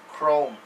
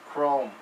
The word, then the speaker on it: chrome: so in this word you pronounce ch exactly with a c but ignore the h you don't hear the h so you pronounce this chrome chrome okay with uh oh